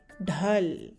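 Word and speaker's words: ढल: The dh sound, as in diamond, d, it's a forceful sound, and lemon, l. Dh plus l makes dhal. We pronounce it as dhal.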